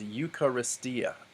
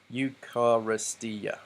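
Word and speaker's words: εὐχαριστία: next to each other so this word is eucharistia eucharistia so there are five syllables because we counted five vowels and diphthongs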